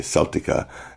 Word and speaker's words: Celtic: if you're articulating in spain where the the celtica comes in but it's just about everywhere else it's celtic or celtic uh we're not a basketball team but